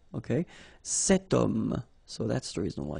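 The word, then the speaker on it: homme: got this Ash letter remember Ash is not pronounced okay so you've got the sound of O at the beginning of this word okay setum so that's the reason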